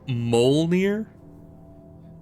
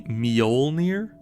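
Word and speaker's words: Mjölnir: Is it not supposed to be Mjolnir? Because, you know, there's a J there. That makes a sound. The J. I don't think the J is silent. It's not just Molnir.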